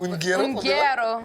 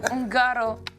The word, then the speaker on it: Ungaro: Ça se prononce comment? Ungaro. Ungaro.